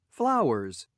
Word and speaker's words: flowers: Flowers, flowers. Number what? Number 1. Right? So flowers, the last letter we pronounce it as what? As z. Z sound, okay?